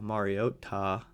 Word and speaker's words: Mariota: I liked how they were saying his name uh on what was that? Sunday Night Football, Mariota. Uh that's they were saying it wrong all these years and now they got it right, I guess. But they really were putting a lot of emphasis on the Ta.